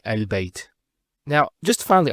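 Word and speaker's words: ال: the of definitess that the is always pronounced with a fat not a and not a so it's always a al bait al and so on. It's never it's never ill.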